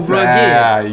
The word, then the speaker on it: rugged: But I'm just saying, it's spelled like "oh rugged cross," but they take the last G and go GED. Oh rugged.